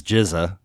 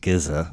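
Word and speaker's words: GZA: So this is Jizza, right? The genius. I think before this week I was pronouncing it Giza, so baby steps.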